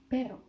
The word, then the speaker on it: pero: So when you would have pero means but, you know, like, oh, but this, like, pero yo dije que no, pero yo quería esto, pero, because it's one R.